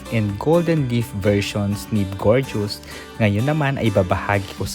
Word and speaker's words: Bgojes: And by the way, the proper na pag-pronounce kay gorgeous ay gorgeous. As in maganda kasi if wala kang idea sa kanyang tawag, masasabi mong big godes siya.